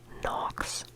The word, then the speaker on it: Knox: you one Decay and it rhymes with fox now you'll probably get it the name is nox nox good night Knox